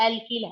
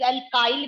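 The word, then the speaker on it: alkyl: अब जानना है तुमको एल्किल हैलाइड क्या है। एल्किल हैलाइड बोलते हैं एल्किल group, that is एल्काइल भी प्रोनाउंसिएशन कर सकते हो, that is represented by आर।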